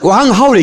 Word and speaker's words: 왕하오: 왕하오. 이게 중국식 발음으로 들어야 되는데 성이 어디 갔어?